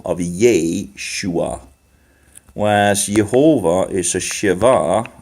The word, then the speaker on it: Yeshua: it like this because then you get the syllable of yeh shua was Jehovah is a Shiva and Shiva makes